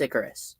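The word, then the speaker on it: Ikaris: it is actually pronounced icarus okay uh as in the figure from greek mythology yes well yeah i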